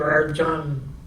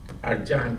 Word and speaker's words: Arjang: Arjan, that lives in Palos Verdes. RJ. Arjan, right? Dr. Arjang. Arjang is the Whatever. Persian pronunciation.